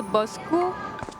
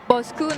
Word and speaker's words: Bosku: So we follow the Bosku. It's actually we pronounce it Bosku, not Bosk. Bosku? Bosku. So in Indonesian, it's like our boss.